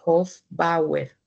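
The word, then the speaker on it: Hofbauer: También aparecen células musculares lisas y aparecen unas células muy importantes para la placenta que se les llamó células de hoer, ¿vale? Se escribe h o f b a u e r.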